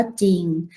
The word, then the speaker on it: จริง: สา ลา สอ เสือ ควบ กล้ำ รอ แต่ ไม่ ออก เสียง หล่อ เช่น คำ ว่า จริง อ่าน ว่า จริง ไซร้ อ่าน ว่า ใส